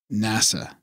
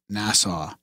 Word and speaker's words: NASA: correcting Graham's pronunciation Graham it's NASA not Nassau and you know what